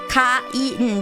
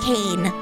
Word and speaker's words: Kain: So specifically because we read it Kain, because it's spelt the same in the Roman alphabet, does not mean it's pronounced the same, right? Kain, right? Not Cain.